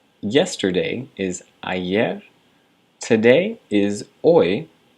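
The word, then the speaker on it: hoy: Today is oi. Remember you don't pronounce the h's.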